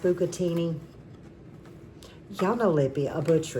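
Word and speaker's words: bucatini: And I believe it's pronounced bukatini.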